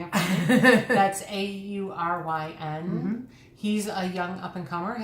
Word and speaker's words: Auryn: Thank you for pronouncing it for me. That's Auryn.